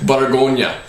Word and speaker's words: Bourgogne: The proper pronunciation, so if you pick up a bottle and someone asks you about it, is Bourgogne. It's just French for Burgundy.